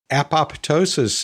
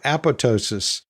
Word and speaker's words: apoptosis: upset some people get when you say apoptosis instead of apotosis that is when you pronounce the P instead of keeping it silence like it quote is supposed to be pronounced well some of us